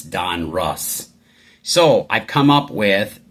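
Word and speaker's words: Donruss: We've got another 1986 Don Russ, not Ross.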